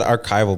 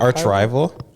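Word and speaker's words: Archrival: Because I said archival, but is it arch rival? Arch rival, yeah.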